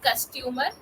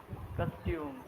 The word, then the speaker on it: custom: Customer. Which word was that? costume, Costume.